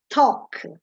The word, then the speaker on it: talk: A proposito, by the way, talk, like the L doesn't exist. It often happens in English that there are letters which are not pronounced. And in talk, the L, it's as if it doesn't exist.